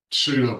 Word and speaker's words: pseudo: Pseudo brother-in-law, Can you even spell pseudo? PSEUDO. Very good. I didn't hear you pronounce a P in that word.